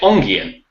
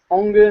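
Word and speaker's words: Enghien: Ongyen? Ongyen, yeah. Isn't it Ongen? Ongen or Ongyen, you can say either.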